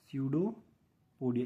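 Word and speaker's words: pseudopodia: इसको सूडोपोडिया कहते हैं सडोपोडिया इसमें पी साइलेंट है सूडोपोडिया इसको सूडोपोडिया बोलते हैं और इसको जो यह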